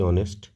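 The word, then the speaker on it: honest: বালক সৎ হচ্ছে কি অনেস্ট আর বালক হচ্ছে বয় অনেস্ট একটা এইচ আছে কনসোনেন্ট আছে কিন্তু উচ্চারণ করার সময় সাধারণত ভাওয়েলের উচ্চারণটা ধরা হয় ও টা এটা সাইলেন্ট থাকে তাই যেহেতু অনেস্টের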